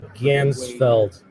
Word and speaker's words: Ganzfeld: Ganzfeld, not the Gandalf effect.